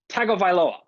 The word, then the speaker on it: Tagovailoa: Tagovailoa.